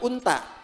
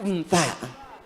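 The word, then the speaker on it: أنثى: Awas bacanya yang benar, bukan unta. Unta.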